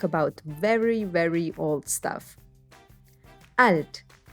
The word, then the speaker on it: alt: german lessons by 11 alt in this lesson we'll talk about very very old stuff alt is alt alt just watch out not to mix it up with the english pronunciation alt is an adjective